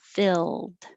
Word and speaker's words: filled: filled out the form don't let your tongue get too high or just sound like field like in column d and that means your tongue is really high field so for filled keep your tongue flat except for the coming up for the l filled 28 redefine again